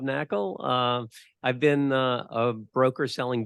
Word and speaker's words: Knakal: The K is silent, Knakal.